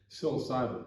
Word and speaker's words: psilocybin: covering today, specifically for the how is it pronounced, Steve? Psilocybin.